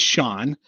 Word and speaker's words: Shone: By the way, I appreciate you calling me Stone for those who don't know what that My name is Shawn. Uh, but it's spelled so oddly.